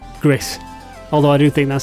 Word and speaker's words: Gris: up your virtual Spurs and number three is GIS from the moment you dive into Gris yeah that's how you say it GIS not how I normally would pronounce it with my arure accent Gris although I do think that sounds better I